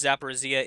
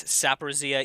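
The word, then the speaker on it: Zaporizhzhia: Eli Guy points out to me that when I pronounce Zaporizhia, it is Saporizhia.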